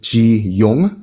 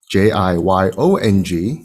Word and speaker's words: Jiyong: name korean name is ji young spelled j-i-y-o-n-g but you don't know that the o is long so it was very commonly pronounced as jiyong every time there was